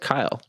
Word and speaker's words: Kiel: Kiel, but it's pronounced Kyle, Hmm.